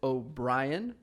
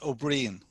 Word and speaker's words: Ó Briain: My guest today is O'Brian. Did I get that right? I'm very comfortable with people mispronouncing my I names. hate that. No, tell me how to say it. So it's O'Brien.